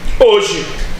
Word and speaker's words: hoje: Aqui é cada letra corresponde a um fonema, porém o H, apesar de ser uma letra, no início de palavras não tem som, tá? Não tem som. Como é que eu provo isso para vocês? Fazendo isso aqui. Que palavra que nós temos aqui? Hoje, tá? Tá escrito hoje, tá escrito hoje. Esse H ele não tem diferença fonética, tá bom?